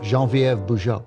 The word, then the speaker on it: Genevieve Bujold: that we have been saying what I said, Genevieve Bujold. It's Genevieve. Genevieve Bujold.